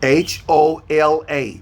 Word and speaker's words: hola: hello in spanish hey h-o-l-a very good very good h-o-l-a ola say hola yeah so h is a silent you don't pronounce the